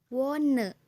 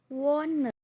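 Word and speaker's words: wohne: Contoh H mati dalam suatu kata yaitu wone. Wone. Jadi dalam kata wone ini H-nya jangan dibaca jadi mati aja udah.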